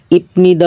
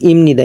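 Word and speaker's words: 입니다: এটা হলো ইপনিদা উচ্চারণ হবে, হর্ষায় প ইপনিদা, কিন্তু বিয়োগ বা সিমের পর যদি নিয়ন থাকে তা বিয়োগটা ময়ের মতো উচ্চারণ হবে বা সিমির নিয়মে। তাহলে হবে ইমিনস ইমনিদা, ইমনিদা অর্থ এম ইজার, হয় অর্থে ব্যবহৃত হয়।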